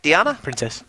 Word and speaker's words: Diana: And is that how you say it? Diana? Princess, yep.